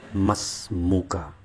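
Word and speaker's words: ما اسمك: bisa kita ungkapkan dengan Ma ismuka atau bacanya cukup Mas muka artinya Siapa namamu kemudian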